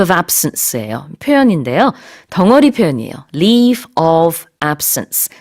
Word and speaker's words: leave of absence: leave of absence, leave of absence 이렇게 보통 붙여서 하나의 표현인 것처럼, 하나의 단어인 것처럼 이렇게 발음을 해주시면 되겠습니다. 이렇게 끊지 마시고요.